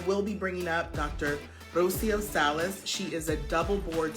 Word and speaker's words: Rocio Salas: I want to make sure I'm pronouncing your name right. Dr. Rocio Salas, right? Yes, correct, Rocio Salas.